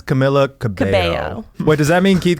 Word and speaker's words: Camila Cabello: You And pronounce Camilla, right? I think it's Camila Cabello.